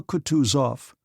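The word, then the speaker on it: Kutuzov: Prince said Anna pavlovna General coutu off said bonsky speaking French and stressing the last syllable of the general's name like a Frenchman has been pleased to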